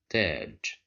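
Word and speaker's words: تاج: But here we have the letter ta controlled by fatha, and we have alif, so this means that we have mad bil alif, so we will pronounce it as taj.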